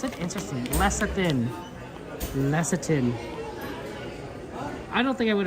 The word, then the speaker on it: lecithin: Lecithin is how you pronounce it? Interesting. Lecithin.